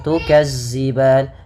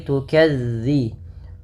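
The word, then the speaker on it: تكذبان: hati-hati teman-teman dilafal melafalkan zalnya jangan diganti dengan huruf z jangan tukazziban tapi tukadzi bagaimana cara melafalkannya ujung lidah ujung lidah menempel dengan gigi seri atas gigi seri atas sehingga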